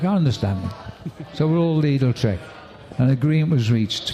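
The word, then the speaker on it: Lidl-Trek: little Tre but the team don't want it pronounced little Trek because they think the viewers will hear little Trek and they don't want to be called little Trek I understand so we're all leadle trick an agreement was reached a few years ago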